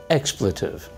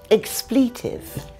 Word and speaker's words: expletive: an expletive she means expletive expletive the pronunciations different in British and American say expletive an expletive is a